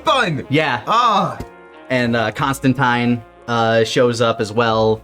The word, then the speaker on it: Constantine: yeah oh and uh constantine uh shows up as well for a barista it's they actually in the comics it's pronounced tine they they do a little rhyme to show it off so uh okay yeah